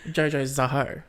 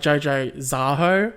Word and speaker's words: Jojo Zaho: Because I was pronouncing it like Jojo Zaho. Yeah, fair. Which, if I say it slowly like that, it doesn't make sense. But if you say it like Jojo Zaho, that's fucking iconic.